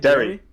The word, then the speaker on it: Derry: what de or y-yeah did I pronounce it right Derry yeah okay all right I